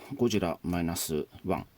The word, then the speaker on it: ゴジラ-1.0: ゴジラマイナスワン。